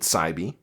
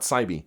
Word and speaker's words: Saib: void before we meet Saibi. And the reason why I'm very confident, or actually, I'm sorry, it's not Saibi, it's Saib.